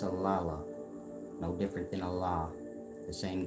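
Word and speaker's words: Alalu: a l a l u aala but people pronounce it a Leu but it's aala different than Allah the same God that y'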